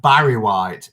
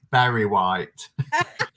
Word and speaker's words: Berry White: oh mama says barry white or barry white it's berry white yes actually it